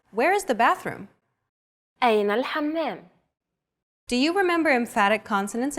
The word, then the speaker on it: الحمام: One trick to produce this sound is to push your tongue as far back in your mouth as you can and then say the word hot. It should help you to pronounce this sound.